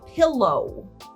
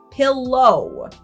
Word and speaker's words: pillow: Then the thing you put your head on at night is called a pillow. Pillow. This is English. W is not pronounced V.